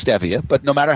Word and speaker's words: stevia: And those 3 are stevia, which most people pronounce incorrectly. They think that it's called stevia, but it's stevia.